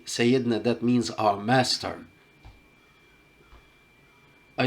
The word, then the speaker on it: Sayyidina: Sayyidina Khalid ibn Walid means our Lord or our Master. All the Prophet and all of his companions, when you mention them, you say Sayyidina, that means our Master.